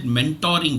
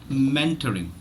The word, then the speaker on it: mentoring: her and I said wherever you find the letter O doesn't mean that you have to put you have to uh you know pronounce it as an as an O the letter O is not necessarily the o sound okay so it is mentoring mentoring so the the point